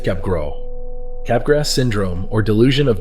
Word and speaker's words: Capgras: First discovered in 1923 by French psychiatrist Joseph Capgrass. If you wanted to pronounce it in French, it's Joseph Capgro.